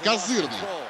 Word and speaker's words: козырный: Это, как говорят картежники, козырный такой вариант. Именно так вот с ударением на второй слог.